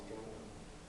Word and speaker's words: Django: Jamie Foxx is Django. The D is silent, if you've seen the movie.